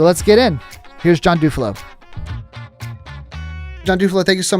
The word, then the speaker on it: Dufilho: It's Dufilho. Some people pronounce it Dufilho.